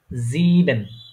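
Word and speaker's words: sieben: কি লেফট মানে হচ্ছে আমি বলেছিলাম এর মত উচ্চারণ হয় ঠিক আছে ঠিক আছে তাহলে এটা কি হবে এটা হবে কি জিবেন এটা কি হবে জিব জিবেন হ্যাঁ এখানে জিব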